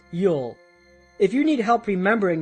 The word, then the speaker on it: ULL: The slow lane strategy is rooted in uncontrollable limited leverage, or ULL, pronounced YUL.